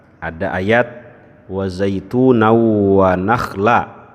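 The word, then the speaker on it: نَخْلًا: Tadi saya dengar ada ayat wa zaituna wa nakhla, itu pakai kho atau pakai ha? Pakai kho ya, tapi tadi saya dengar Nabil bacanya pakai ha ya.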